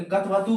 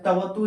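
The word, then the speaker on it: क्तवतु: जैसे फिर जैसे ये कतवतु होता है, आप लोग इसको क्या करते होंगे, कथवतु पढ़ते होंगे, क्योंकि इनको कथवतु नहीं पढ़ना है। को क्या होता है, साइलेंट होता है, तवतु इनको पढ़ना है।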